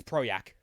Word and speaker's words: Projekt: it by the way yeah it's project because they're polished okay that is is